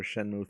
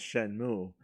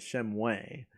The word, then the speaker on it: Shenmue: one featuring like him unable to pronounce shenmue he called it shem way and then he was